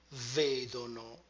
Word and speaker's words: vedono: E loro vedono. Remember to retract the stress.